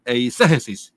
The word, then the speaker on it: eisegesis: Cuando estudiamos hermenéutica, estudiamos una palabra que se pronuncia eisegesis, que es meterle al texto, ¿cierto?